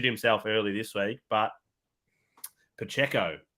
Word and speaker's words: Pacheco: early this week but Pacheco is how you say his name this guy I think